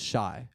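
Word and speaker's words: Shai: you look at that it's spelled SH AI that says shy but that's that supposed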